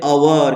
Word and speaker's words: hour: अब देखो बच्चों यहाँ पे क्या बोलते हैं बच्चों, हवर बोलते क्या बच्चों, नहीं, यच क्या है बोलो, साइलेंट लेटर, लेकिन शुरुआत तो एच से हुई है। यच क्या है, व्यंजन है, हम इसको बोलते हैं अवर।